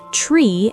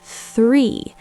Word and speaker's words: three: To do this, your tongue has to gently touch your top front teeth. Three. It's a breathy sound. It is not tree and it is not free. It's three.